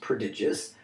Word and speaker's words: prodigious: the first word / digia sorry pronounced that wrong the first time is pronounced prodigious means very large in